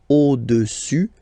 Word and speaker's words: au-dessus: Le cube est au-dessus du cylindre. So let's repeat it. Le cube est au-dessus, final S not pronounced here, au-dessus du cylindre.